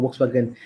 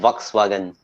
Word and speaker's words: Volkswagen: german yeah yeah yeah so is the w is also pronounced differently as a v yeah dmv that's why it's called volkswagen um i mean i